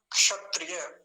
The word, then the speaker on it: क्षत्रिय: पूरा थोड़ी आधा है अब आधा बहुत हल्का सा उच्चारण आएगा कैसे क्षत्रिय क्षत्रिय शुरुआत तो क से ही होगी क्षत्रिय अब वो आती